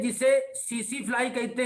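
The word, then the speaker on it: tsetse: ये टीसी, जो टीसी नहीं होता, टी साइलेंट है।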